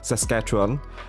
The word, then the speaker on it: Saskatchewan: Yes, that's how you pronounce Saskatchewan.